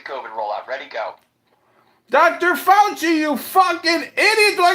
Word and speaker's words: Fauci: Fauci, you fucking idiot. Do I got to spell it out for you?